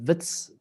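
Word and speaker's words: Wits: is so it's pronounce Vitz with a V because it's originally a Dutch name so Vitz the University of advantis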